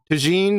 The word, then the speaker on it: tagine: that i don't know this is moroccan tagine like gene b a j yeah